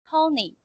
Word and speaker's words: Tony: So the first one is Tony. Tony, Tone. Tony, Yeah. Like Tony, like tone in a sound. The O is kind of it's O sounding, so it's Tony.